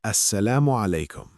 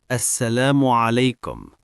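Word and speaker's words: السلام عليكم: Assalamu alaikum. That's long. Can you break it down? Yes. Assalamu means peace. Alaikum means upon you. Together, Assalamu alaikum.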